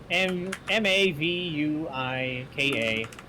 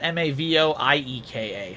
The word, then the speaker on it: Mavuika: It's spelled as it is. Mavuika. Pronounce it as you spell it. Mavuika. Oh, I went Mavoieka, so Mavu.